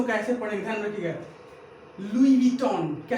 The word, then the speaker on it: लुई विटॉन: उच्चारण करना। इंग्लिश को कैसे पढ़ेंगे? क्या? इंग्लिश को कैसे पढ़ेंगे? ध्यान रखिएगा, लुई विटॉन।